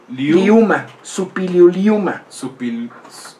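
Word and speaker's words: Šuppiluliuma: Gente trabajadora como Supiliuliuma. Es bien difícil de pronunciar. ¿Supiliu? Supiliuliuma.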